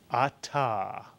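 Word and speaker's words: אתה: The word is atah. A 2-syllable word, 2 vowels, 2 syllables. Ah is the first syllable, ta is the second.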